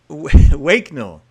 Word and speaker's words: Waknell: So thank you very much, Phil Waknell. Yeah, you get it right. Waknell, the co-founder of Ideas on Stage.